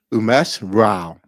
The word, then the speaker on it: Umesh Rao: Umesh Rao.